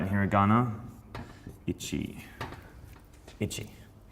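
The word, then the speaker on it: 一: Ichi. That's Ichi. All right, in hiragana, Ichi.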